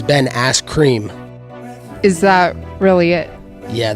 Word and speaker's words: Askren: Ben Askren. You said it wrong. It's Ben Askren.